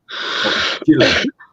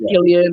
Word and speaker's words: Gillon: People say it wrong all the time. Gillon. Yeah, I get like Gillian and like that.